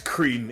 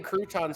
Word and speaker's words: Cretin: First of all, it's Cretan. If you're gonna insult me, do it properly. Is that how you say it? I've been saying croutons for ages.